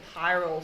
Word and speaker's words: pyrrole: Pyrrole's an amino acid, isn't it? Pyrrole. This is spelled P-Y-R.